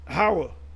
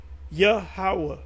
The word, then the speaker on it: Yahweh: You know, when you say Yahweh, some of y'all say Howah. Like the Yah Israelites that say Yah. Yah's not his name. Yahweh.